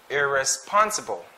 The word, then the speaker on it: irresponsible: number 11 please listen irresponsible they're responsible so the stress is in the third syllable which is pun irresponsible right take note of that this